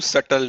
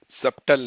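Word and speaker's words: subtle: With a फ्यू सटल nodes. इसका pronunciation होता है सटल. सटल, सबटल नहीं करना है, सटल.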